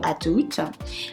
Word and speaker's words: à tout: The only thing is that you need to make sure you pronounce the final consonants. Otherwise, it won't make any sense and people won't understand you.